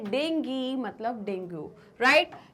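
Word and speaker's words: dengue: तो भाई दोनों बोलते हैं डेंगी डेंगू, तो आप दोनों में कंफर्टेबल है या नहीं है? मैं तो हूं, तो इसलिए मैं क्या पढ़ती हूँ उसको, इसका सही प्रोनाउंसिएशन डेंगी है, राइट।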